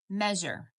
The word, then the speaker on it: measure: And then we have measure. Me, that's a vowel digraph syllable, and the EA says eh. Jur, there's your final stable syllable, and it says jur, okay?